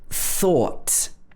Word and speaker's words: thought: or for example in thought so watch the pronunciation of this word we've got the f at the beginning where your tongue goes just between your top and bottom teeth then or thought the thought of eating